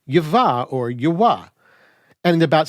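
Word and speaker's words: יהוה: And for Christian scholars who were unaware of how the Masoretes handled the name, they proceeded to mispronounce the name as Yehovah or Jehovah.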